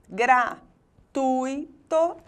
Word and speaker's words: gratuito: lugar na palavra 'análise' agora rubricá recorde o dico gratuito origens de difícil elétron e tórax caqui e órfão todas as palavras agora apresentam a sílaba forte na penúltima posição quando isso acontece dizemos